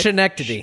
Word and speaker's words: Schenectady: Pronunciation, Andrew. As Andrew would say it. Schenectady.